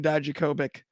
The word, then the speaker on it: Dijakovic: Donovan Dijakovic. Sorry, I threw a B in there where there was a V.